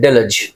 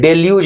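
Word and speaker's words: deluge: और डिलज, यहां पे देखो मैंने प्रोनाउंसिएशन डिलज डिलज डिलज, और कुछ नहीं, डेल्यूज नहीं, डिलज प्रोनाउंसिएशन होगा, ध्यान रखना।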